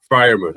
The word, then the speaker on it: Freiermuth: Pat, correct me if I'm wrong in the pronunciation here, Freiermuth, and with the first 2 picks. Yep. Freiermuth, okay.